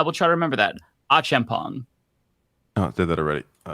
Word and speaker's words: Achampong: So Achampong, last name pronounced Achampong.